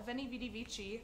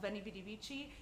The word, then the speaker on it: veni vidi vici: v-shaped shawl being called veni vidi vici even if they pronounce the V's like w's I don't care I'm